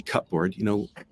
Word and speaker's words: cupboard: It's a good example too, because we don't pronounce it anymore, cupboard. I mean, I'm going to look in the cupboard, we call it cupboard, even though there's still a P in there.